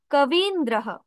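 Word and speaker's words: কবীন্দ্র: আরেকটা কথা সেটা হচ্ছে আপনারা উচ্চারণ ক্লাসে জেনেছিলেন যে যেগুলো রস স্বর সেগুলো কম উচ্চারিত হয় এবং দীর্ঘস্বর গুলো একটু দীর্ঘ উচ্চারণ করতে হয় যেমন আমরা বলছি কবি কিন্তু যখন আমরা কবিন্দ্র বলবো তখন বলবো কবিন্দ্রহ কবিন্দ্রহ একইভাবে আছে গিরি যোগ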